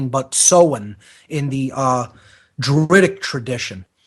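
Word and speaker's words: Samhain: autumn was uh the the Sabbath called uh soen it's spelled s a m ha a i n not pronounced Sam Hae but seen in the uh dtic tradition this is of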